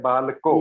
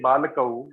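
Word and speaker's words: बालकौ: Okay, balako. Yes. And in reading also, in pronouncing also, you should say balakau. If you say balako and writing balakau, that's also wrong.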